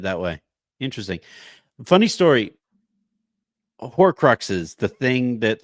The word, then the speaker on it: Horcrux: that series and um for some reason never saw the r in hor Crux so I got to